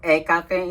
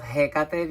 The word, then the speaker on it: Hecate: beginning, I sometimes say Hecate instead of Hecate because of Spanish, because in Spanish you don't pronounce the H like in English it's pronounced. We don't pronounce it at all.